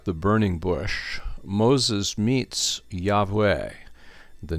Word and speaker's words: Yahweh: am and usually pronounced Yahweh although it's not necessarily the case that that's the pronunciation because the ancient Hebrew had no vowels in it only consonants God says to Moses